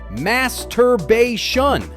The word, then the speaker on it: masturbation: Start with mas then tur followed by bay and finish with shun together.